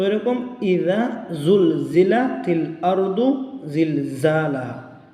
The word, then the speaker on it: زلزلت: Joule জিলা যা উচ্চারণ করবেন জিহ্বার আগাকে নিচের সামনের দুই দাঁতের গুড়ার সঙ্গে লাগিয়ে জাল, আর জাল হবে জিহ্বার আগাকে উপরে দুই দাঁতের আগার সঙ্গে লাগিয়ে।